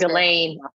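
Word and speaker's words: Ghislaine: not just because it's really really hard to pronounce her name but uh Miss Maxwell her first name is Delane Delane Delane Maxwell yeah I was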